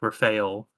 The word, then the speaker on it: Raphael: first pronunciation was technically correct, Raphael. Like it can be pronounced either way.